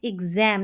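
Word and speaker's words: exam: देकर बोल रहे हैं, हम बोल रहे हैं एग्जाम, ना कि एग्जाम। शॉर्ट साउंड नहीं आ रहा, लॉन्ग साउंड आ रहा है इस ए का। तो वहाँ पर एक्स को आधा ग और ज प्रोनाउंस करेंगे, एग्जाम।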